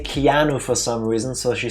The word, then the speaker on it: Keanu: the name keano Reeves but Tifa cannot say Keanu for some reason so she said kinoa I think it's pronounced quinoa yeah in America it's it's not